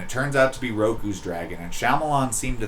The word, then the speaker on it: Roku: Hey, at least he pronounces his name right. At least he's not Rau. Yeah, it could be Rocku, but it's it's Roku and and it's good.